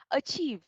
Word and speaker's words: achieve: Chúng ta sẽ mình sẽ nhấn vào trọng âm thứ hai và có âm cuối, âm ending sound là âm v, âm v.